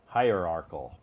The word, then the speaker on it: hierarchal: see where is uhuh hierarchal again the see s this word sounds like K right yeah it has a c pronunciation hierarchal yeah it is it